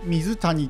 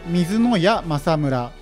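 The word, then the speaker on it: 水谷政村: なってますでこの谷というのなんで矢と読むのかと言うと関東より西の場合は谷と読むそうなんですが関東含めたま東はやつとか矢とかに勝そういう読み方をするそうなん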